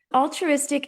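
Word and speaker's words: Alltruistic: Altruistic is spelled A L L T R U I S T I C. All is our collective. True as if it's already a reality. And Istic allows us to play on the word altruistic.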